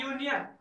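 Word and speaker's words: union: यहाँ पे दिया है यूनियन, तो ऐसे कंडीशन में हालांकि इसका फर्स्ट लेटर वोवेल जरूर है, परंतु इसका प्रोनाउंसिएशन क्या हो रहा है, व्यंजन लेटर से हो रहा है, इसलिए इनके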